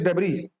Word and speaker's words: debris: इसे कहते हैं स्पेस डेब्रीज, है ना। वैसे तो ये इसकी स्पेलिंग होती है DEBRIS, लेकिन इसमें एस जो है साइलेंट होता है, इसे डेब्री कहा जाता है।